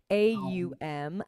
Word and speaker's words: Aum: And Om, sometimes it's spelled O-M. Sometimes you'll see it A-U-M.